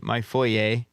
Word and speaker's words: foyer: Is that like a normal pronunciation? Because I've only heard it said. It's a French word. So couple I'm just of saying, years. I'm just being bougie about it. I grew up on foyer. And I've heard Foyer is people how say foyer. a simpleton would say it.